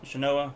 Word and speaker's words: Shanoa: Shanoa, yeah.